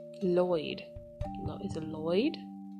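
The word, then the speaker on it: Loid: Is it Lloyd? It's Lloyd. Dumb. A super spy tasked with ensuring conflicts between nations don't evolve into an all-out war. To prevent this cataclysmic event, Lloyd must infiltrate a prestigious school and curry favor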